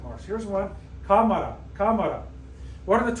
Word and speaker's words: cámara: It should be pronounced, it ends in a vowel, it should be pronounced like camara, camara. Like the running back for the New Orleans Saints, Alvin camera. But no, it's cámara, cámara, cámara. Accent on the A.